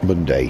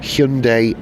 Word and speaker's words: Hyundai: Hundday Hyundai. No, it's going to rhyme with Monday. Hyundai Obsidian.